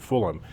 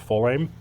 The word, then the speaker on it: Fulaim: the Fulham now I I got that pronunciation from another video I watched where someone said no that is the way you pronounce it Fulham I always said full name but Fulham Fulham whichever you prefer